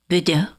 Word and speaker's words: Bourdeau: And you basically told me to just say it like I would say the wine.